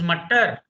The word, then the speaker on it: Mutter: Please pronounce correctly. This is Mutter.